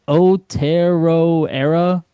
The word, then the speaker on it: Aotearoa: How do you say Otero era building? How the heck do you say that? Aotearoa Aotearoa. building.